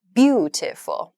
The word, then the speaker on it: beautiful: Beautiful. If you say beautiful, it sounds strange, or beautiful, it sounds strange. So to pronounce the word naturally, we need to use